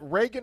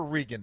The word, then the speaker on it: Reagan: done this already Reagan is it Reagan or rean is that the proper way to pronounce what's your name it's it's Reagan uh like the president got it well you know people used to pronounce the president's name rean so you know I